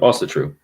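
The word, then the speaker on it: Ásatrú: I've heard it pronounced in different ways, but Asatru.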